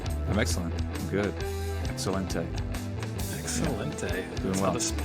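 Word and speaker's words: excelente: Excellente. That's how the Spaniards say it.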